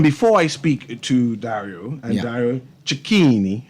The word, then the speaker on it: Dario Cecchini: And before I speak to Dario, Dario Cecchini, I'm trying to pronounce that name correctly, right? Perfect. I want to outline what to expect tonight because everything's sold out.